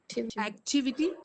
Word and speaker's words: activity: Yeah, you have to stress on the second syllable.